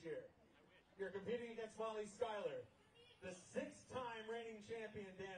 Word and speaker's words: Schuyler: Let's give a warm welcome to Molly Schuyler.